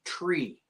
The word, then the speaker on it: three: letter three is pronounced tree t r e because that th sound can confuse people over the radio uh for for you're